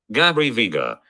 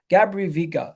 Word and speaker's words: Gabri Veiga: I forget how to pronounce his name. Let me just check quickly. Gabri Veiga. Gabri Veiga.